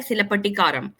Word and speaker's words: Cilappatikaram: बात करेंगे तो जो टाइटल है जिसका जिसको प्रोनाउंस किया जाता है सिलपटिकारम।